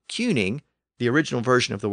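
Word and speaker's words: cyning: in Old English and the standard French rules of pronunciation would suggest that if you put a c at the beginning of that word c y n iing g it should be pronounced as an S but it wasn't I mean England was ruled by a cuning not a tuning or tuning and it's at this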